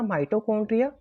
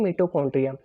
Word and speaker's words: माइटोकॉन्ड्रिया: वो हमारा आंसर आएगा माइटोकॉन्ड्रिया, या बहुत से बोलते हैं मिटोकॉन्ड्रिया। यहाँ पे प्रोनाउंसिएशन पे मत जाना, स्पेलिंग दोनों की सेम ही होती है।